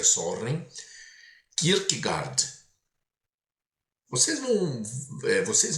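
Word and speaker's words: Søren: Soren, né, que vocês vão ler Soren, mas se pronuncia sorren.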